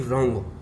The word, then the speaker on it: wrong: W कौन कौन से अक्षरों में साइलेंस वर्ड है, जैसे कि रॉन्ग, रॉन्ग माने है गलत, तो WRONG, तो W इसमें साइलेंस वर्ड होता है, इसलिए इसको रॉन्ग बोलेंगे, रॉन्ग।